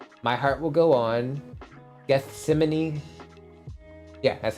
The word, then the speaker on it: Gethsemane: Gethsemane. Yeah, that's how you pronounce it.